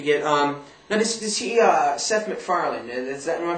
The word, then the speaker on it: MacFarlane: Now, does he Seth MacFarlane? Am I pronouncing his name properly? Yeah. MacFarlane.